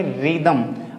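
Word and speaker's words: rhythm: Pronunciate नहीं करेंगे। तो इसे क्या बोलेंगे? रिदमम।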